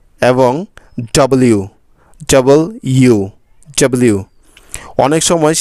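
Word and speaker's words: W: আমাদের শেষের যে লেটারটা রয়েছে এটাকে আমরা বলি ডব এটা হলো ডব মোটেও নয় এটার সঠিক উচ্চারণ হলো ডবলিউ ডাবল ইউ কারণ ডাবল মানে হচ্ছে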